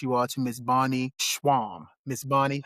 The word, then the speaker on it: Schwam: all to Miss Bonnie Schwam. Miss Bonnie, how you doing today, man? Yeah. You proudly pronounced it right. Correct.